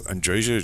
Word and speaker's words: Andreja: I'm going to say Andrea because Andreja just feels too awkward to me and I and you sort of like in some languages you pronounce the J as a Y.